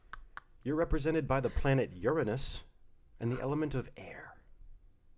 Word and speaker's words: Uranus: Is that really how you pronounce it? Yes. Uranus. As opposed to Uranus. Yeah. I mean, we're just putting the different emphasis on different syllable there.